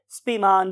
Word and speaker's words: Spemann: his name was spin बहुत से लोग इसे स्पी मान भी बोलते हैं तो व्ट एवर यू वांट